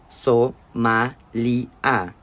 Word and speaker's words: Somália: Isso é a Somália." Ele pronunciou a palavra do mesmo jeito que o restante dos rapazes fazia, com uma espécie de orgulho temerário, pronunciando enfaticamente todas as quatro sílabas: S, ma, li a.